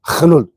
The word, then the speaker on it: geduld: Well, it's the same thing in Afrikaans, but it's not pronounced Geduld. It's pronounced Gelul.